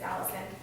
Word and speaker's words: allicin: substance called allicin um because it's spelled kind of like penicillin but it's Allison it's something you can